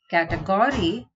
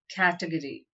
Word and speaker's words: category: nada and not and the sixth word is category it's not category but category state whether the following